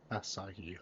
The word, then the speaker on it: Asahi: Asahi. Okay, that's how you pronounce it.